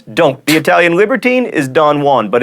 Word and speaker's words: Don Juan: The Italian libertine is Don Juan, but in Byron's epic poem, Don Juan rhymes with ruin.